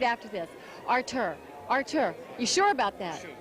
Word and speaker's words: Artur: Artur, you sure about that?